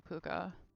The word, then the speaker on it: pooka: anybody know what a pooka is oh yes uh i don't think that's how it's i think well i know that that's not how it's spelled um but like phonetically that would be